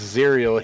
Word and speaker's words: Zuriel: Nice shot by Zuriel. I can never get his name right. I think that you got it right, my dude. Phonetically, at least, it's Zerial.